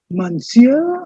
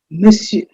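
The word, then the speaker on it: monsieur: perfect pronunciation for this i have given you the equivalent in davina agree script which says miss you miss you the stress is on the first pattern and that means mr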